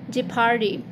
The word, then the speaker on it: jeopardy: People, look, enough, যথেষ্ট, rough, রুক্ষ, leopard, চিতাবাঘ, jeopardy, বিপদ. সো আমি যে ওয়ার্ডসগুলো নিয়ে কথা বললাম ওগুলো সবগুলোতেই ও সাইলেন্ট হয়ে গিয়েছে.